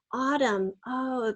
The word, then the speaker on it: autumn: Autumn, in autumn the leaves start falling. So is a U-ot. And then we have a silent N at the very end of autumn.